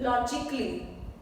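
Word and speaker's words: logically: लॉजिकली A silent है।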